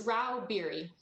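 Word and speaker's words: Rauh-Bieri: yes chairman i'm here how do you say your name ma'am it's rao beery thank you uh miss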